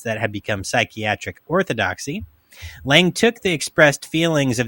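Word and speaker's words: Laing: is based on Scottish uh psychiatrist Rd Lang Lang l a i n g Lang yes who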